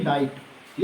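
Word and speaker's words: night: जैसे कि यहां पर लिखा है एन आई जी एच टी नाइट। एन आई जी एच टी नाइट। तो यहां पर जी और एच साइलेंट रहता है।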